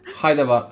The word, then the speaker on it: Hyderabad: And that's spelled as Hyderabad. H-I. Hyderabad. I'm gonna try it now. Hyderabad. Hyderabad. Hyderabad.